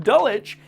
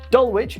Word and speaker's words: Dulwich: Fucking Dulwich is... Dulwich is actually Dulwich.